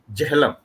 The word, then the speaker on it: Jhelum: I think rest of the world is pronouncing it, I think, rather wrongly. So it is Kashmiris pronounce it as Jehlam.